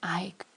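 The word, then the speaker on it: eik: the name of a which is pronounced Ike, and it's Dutch for oak.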